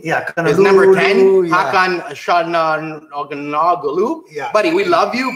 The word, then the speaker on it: Hakan Çalhanoğlu: Yeah, and we still haven't learned to how do you pronounce that guy's name? Yeah, his number 10, Hakan Çalhanoğlu.